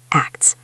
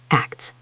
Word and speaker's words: acts: Acts. Make sure you pronounce the K, T, and S clearly. Acts.